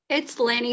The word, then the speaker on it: Lannie: i have with me lenny stabile i hope i have pronounced your name correctly have i lanny stabile but you were really close okay okay i'll try